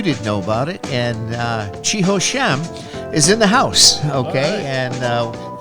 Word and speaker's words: Chi Ho Sham: But actually, if you want to pronounce my name correctly, it is Chi Ho Sham. Chi Ho Sham. It's exactly what it looks like because I grew up in Hong Kong, so they anglifies our names all the way.